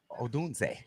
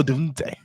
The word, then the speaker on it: Odunze: Odunze. There you go. Odunze.